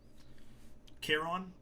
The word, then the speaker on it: Charon: Charon. This is pronounced that way.